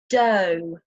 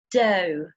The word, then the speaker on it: dough: Okay, the next pronunciation, the next sound is the long O sound. So when we look at the words such as dough, though, although, dough, though, although.